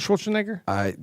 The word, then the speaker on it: Schwarzenegger: Did you ever meet Arnold Schwarzenegger? Well, No. you're gonna meet him right now. Now you pronounced my name wrong.